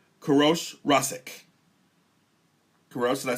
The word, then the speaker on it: Koorosh Rasskeh: Koorosh Rasskeh.